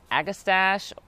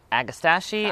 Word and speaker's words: Agastache: magic show ever after next up is an agastache agastachi i've heard it pronounced a bunch of different ways this is